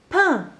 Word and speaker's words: pain: Pain. Donc au début de ma syllabe, j'entends le son P fait par la lettre P. Et le 1 s'écrit avec mon graphème A, I et N.